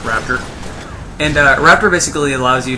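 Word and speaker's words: Raptr: the program Raptor is, it's spelled R-A-P-T-R. There's no E or A or O or anything, it's just Raptor.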